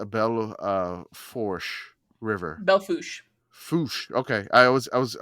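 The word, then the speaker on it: Belle Fourche: uh it just says Bell uh forch River Belo fos okay I was I was I was going to go with the Louisiana pronunciation uh no there's there's a soup Dakota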